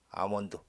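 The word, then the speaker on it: almond: 이런 나무 해서 뽀뿌라 나무, 아몬드 나무, 아몬드 요 L은 묵음이죠. 그리고 플레인 트리스 플라타너스 나무로부터 방금 자른 가지를 가지고 made white strip 흰 줄들이죠.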